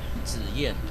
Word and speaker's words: Zih Yan: A double Z is Zih Yan.